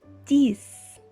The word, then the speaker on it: dix: prêts allez c'est parti 10 veuillez noter que la lettre x à la fin se prononce comme est ce temps le chiffre et